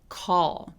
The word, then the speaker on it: call: 자, 그 다음에 다크 L이라고 하는 게 소위 우리나라 말에 이렇게 콜처럼 리을 받침으로 끝나는 애들 중에 다크엘로 소리 나는 애들이 굉장히 많은데요. 얘는 혀가 윗니에 닿아도 되고 안 닿아도 돼요. 근데 혀에 뭔가 무거운 쇠공 같은 거를 살짝 머문다고 생각하시고요. 혀를 무겁게 발음해 주시면 돼요. call 이렇게요.